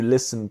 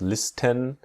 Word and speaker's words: listen: Now, here in the word listen, the T is silent. So we do not pronounce listen, but listen.